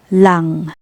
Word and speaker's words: lang: It is always pronounced the same, no matter its position in the word. For example, the word lang. NG is at the end. Lang, meaning only.